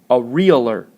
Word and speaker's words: areolar: But this type is called areolar, kind of like those people that sell houses, but missing a syllable there.